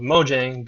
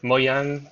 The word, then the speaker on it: Mojang: That's why they called Mojang, because well, that's the American pronunciation of it. I think it's like Mojang or something like that in Swedish. I can't speak Swedish, so I know I just butchered it.